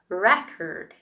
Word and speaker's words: record: example the word record the noun form is record re is the strong one re Cur right but